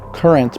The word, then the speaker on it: QRNT: That's pronounced Current, but spelled QRNT.